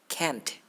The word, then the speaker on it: can't: The stop T of can't, chop it. Make a little more uproot. Can, can't.